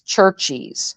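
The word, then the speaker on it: Cherchies: the place it's called it's spelled c h e r c h i s churches okay they they make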